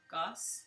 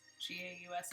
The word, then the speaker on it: Gauss: I'm going to say that last name wrong. Gauss? G-A-U-S-S?